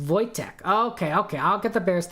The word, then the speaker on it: Wojtek: But I have no, it's pronounced Wojtek.